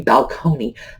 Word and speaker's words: balcony: I think he's because they thought it should be balconey because it came in from Italian and the Italians apparently pronounced it balconey and like balcony just coming in but over the